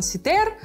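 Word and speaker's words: Cythère: это название потому что на французском это жардан ситер по-русски это либо кифе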